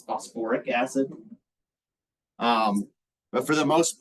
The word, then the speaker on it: phosphoric acid: phosphat the other one it's not phosph acid it's phosphoric acid um but for the